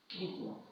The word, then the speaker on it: দ্বিতীয়: দ্বিতীয় মানে এই দয়ের পরে যে ব ফলাটা আছে সেটা অনুচ্চারিত থাকবে, মানে উচ্চারণ হবে না।